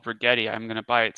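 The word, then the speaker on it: Rigetti: like this company called bretti I'm going to buy it say you're an imbecile uh and don't buy it price rhymes with spaghetti though it's very strong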